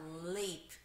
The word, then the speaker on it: lip: 자, lip. 발음 주의하세요. L 발음은요, 혀를 윗니 뒷부분에 ula 해서 lip.